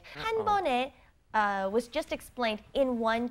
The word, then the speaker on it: 한 번에: Okay, 한 번 is one time 에, 한 번에. And you pronounce it 네, not 에, because of the 받침, the second consonant under 한 번. Okay, 한 번에 갈 수 있어요.